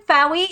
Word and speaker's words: Faoi: Okay, so for my new folks, I am Fowie. It rhymes with Wowie.